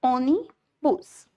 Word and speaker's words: ônibus: Vocês viram que ônibus tem 2 sílabas, ônibus. No caso, a sílaba tônica aí é oni. Logo, é a penúltima sílaba. É uma palavra paroxítona.